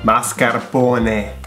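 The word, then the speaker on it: mascarpone: bologn zone bologn marasapony mascar pony marcapony marcaron maras marapony mascar pony mascar pony okay mascar pony Final E. Please pronounce it E.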